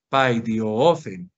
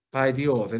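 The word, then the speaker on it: παιδιόθεν: Ek paidiofen. Paidiofen. Esta es la otra correccioncita que te haría yo en cuanto a la pronunciación. El término paidiofen en cuanto a que se acentúa en la omicron.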